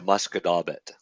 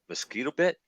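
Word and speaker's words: Musquodoboit: Because it was one way was the Shubenacadie and the other one was the Muscadaubit. Muscadaubit's fucking a rough one. Muscadaubit's hard. When people look at Muscadaubit, it's mosquito bit.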